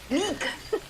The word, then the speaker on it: Niq: N-I-Q, Nick? Nick. Nick. Nick. Got it, Like Nick.